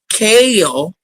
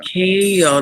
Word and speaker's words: Quel: It's Kale. Yeah. Kale. The Q is quiet.